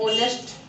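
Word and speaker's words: honest: जैसे कई वर्ड ऐसे होते हैं जिसके शुरुआत में हमारा एच रहता है, लेकिन हम उसको जब भी पढ़ते हैं तो एच को नहीं पढ़ते हैं, वो साइलेंट रहता है।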